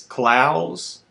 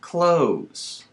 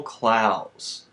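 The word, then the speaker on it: Clowes: am sorry why am I sorry because I mispronounced Daniel klaus's name throughout the entire episode it's clouds like plows not clothes like clothes it's clouds Daniel clouds author of Ghost World it would take too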